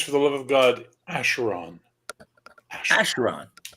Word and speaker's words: Acheron: So it's Acheron, not Acheron.